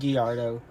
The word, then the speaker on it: Gallardo: I'm pretty sure it's pronounced Gallardo.